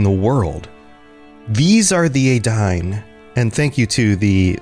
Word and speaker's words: Edain: These are the Edain. And thank you to the patron who helped with the pronunciation. Even though Edain is spelled E-D-A-I-N, it looks like Edain. Edain is the more accurate pronunciation.